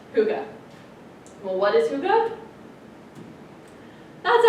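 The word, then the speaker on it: hygge: or something like that but it is actually pronounced Huga well what is Huga that's actually a pretty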